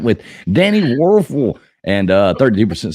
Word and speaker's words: Wuerffel: Wuerffel. Yeah. Wuerffel. It's like a waffle, but I was going to say I like waffles.